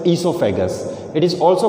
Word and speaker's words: oesophagus: So O remains silent, it will be pronounced as esophagus.